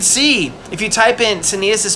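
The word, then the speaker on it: Caeneus: Senius straight up kills the centaur.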